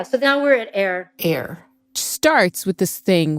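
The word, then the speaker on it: AIRE: now we're at air air which starts with this thing with a very mysterious name air like air that like that we breathe air it's spelled a-i-r-e and it stands for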